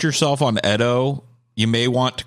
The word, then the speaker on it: Edo: Originated in Japan during the Edo period, or I think it's actually pronounced Edo period, which was from 1603 to 1868.